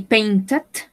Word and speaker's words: painted: Yesterday I painted. Pronunciamos la E porque termina en T-E-D.